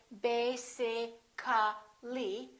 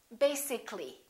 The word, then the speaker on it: basically: let me show you when we say the word basic it has two syllables if we add a l l y we don't say basi ca li this a disappears so the a is not pronounced and we say basically take a look at